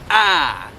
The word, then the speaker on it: å: Basically, the reason why I call this is because you actually have to open your mouth extra to be able to pronounce it well. Ah!